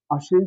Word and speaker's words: আশ্বিন: যদি আমরা আসি আশ্বিন আশীন শব্দটার উচ্চারণ যখন আমরা লিখবো এখানে দেখা যাচ্ছে ব ফলাটা মাঝের কোন বর্ণের সাথে আছে স এর সাথে তো এখানে আমরা এই ব ফলার কারণে দুইবার স উচ্চারিত হবে আশীন আসন না আশীন